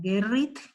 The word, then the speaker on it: Gerrit: Gerrit se escribe G de gato, E-R-R-I-T, como Gerrit, ¿sí?